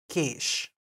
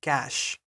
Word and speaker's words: cache: Stephane pronounces it cache instead of cache.